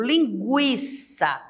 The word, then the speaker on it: linguiça: não são dígrafos porque quando nós falamos por exemplo linguiça eu pronuncio o g o u e o i então não tem dígrafo